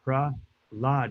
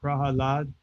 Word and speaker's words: Prahlad: And in this case, Prahlad is Pra lad. It's not Pra al lad. It's Pralad. So, there is a word aladha, which means bliss. But the the proper name pronunciation is Pralad. If somebody says Prahalad, well, that's their uh